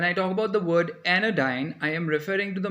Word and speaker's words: anodyne: So anodyne sounds like sensodyne.